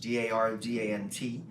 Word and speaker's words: Dardant: My last name is French, Dardant. The T is silent, like the word penis in a jazz band.